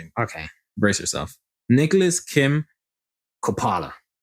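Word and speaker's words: Coppola: Nicholas Kim Kopala. Uh, you know what? That sounds familiar. And I think it's pronounced Copala cuz he's a he's of Italian descent.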